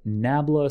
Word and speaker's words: nabla: is often symbolized as this here which is pronounced nabla c so this character here it's like an